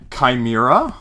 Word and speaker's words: chimera: you're like, well, actually, the CHI in this place is actually Chi instead of, yeah, gosh, English language.